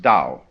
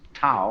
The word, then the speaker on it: Tao: decide how it's pronounced we should have spelled it d o w you see but it's Tao and this character here